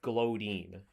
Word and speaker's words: Glowdine: It's Glowdine, as in like glowstone.